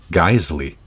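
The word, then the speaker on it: Geissele: fatty piece of meat so how do you actually pronounce this company's name geisley yeah I know way too easy for such a spelling all right let's move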